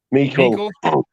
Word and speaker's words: Meikle: Is it like Michael? How do you say that? Meikle.